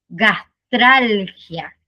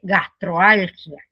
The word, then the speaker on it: gastralgia: Entonces, ¿cómo se pronunciaría correctamente gastralgia? ¿Cómo se pronuncia incorrectamente? Gastroalgia. Sí. Entonces, la O se mantiene si la siguiente parte empieza con una consonante y la o se elimina si la siguiente parte empieza con una vocal.